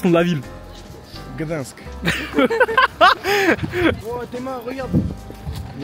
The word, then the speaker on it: Gdańsk: Eh, Bramsko, comment on prononce le nom de la ville? Gdansk.